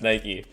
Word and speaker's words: Nike: It's definitely pronounced Nike.